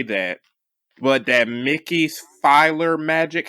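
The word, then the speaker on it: PhilharMagic: that but that mickey's filer magic how do you pronounce it it's like feel feel like feel heart magic i for people who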